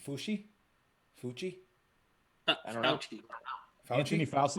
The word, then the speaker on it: Fauci: Fucci? I don't know. Anthony Fauci. I want to say it's Fauci. Oh, yeah. I was, Fauci.